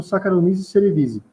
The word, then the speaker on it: Saccharomyces cerevisiae: A pronúncia desse cara aí, eu já ouvi de várias formas diferentes. Eu aprendi como Saccharomyces cerevisiae, tá? Mas tem gente que fala Cerevisiae, Cerevisiae, enfim.